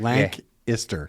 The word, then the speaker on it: Lancaster: me link you I L yeah I can't pronounce it like lank yeah it's just lank lank lanter lank ister okay k i s t l LC you